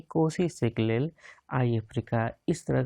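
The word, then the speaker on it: Nkosi: यहाँ तक जो नहीं, हाँ कोसी, इसमें एन साइलेंट है, कोसी सेक्लेल आई अफ्रीका,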